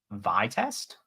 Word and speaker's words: Vite: So I will be using Vitest. Vitest, yeah. Vitest. Yeah, I mean it's pronounced Vite, so Vitest maybe.